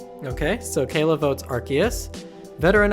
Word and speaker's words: Arceus: Technically speaking, it's Arceus with a K sound. Okay, so Kayla votes Arceus.